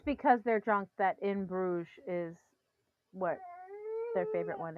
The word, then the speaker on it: Bruges: I feel Uh, like it's because they're drunk that In Bruges is what their favorite one is. But okay, is that how you pronounce that, Bruges?